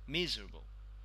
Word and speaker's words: miserable: know this by me so miserable so it is stress the first syllable one yeah miserable the